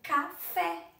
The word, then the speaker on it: café: Por exemplo, café é a última sílaba, é fé.